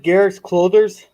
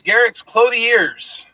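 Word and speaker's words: Garak's Clothiers: Wasn't it something like Garrick's Clothers?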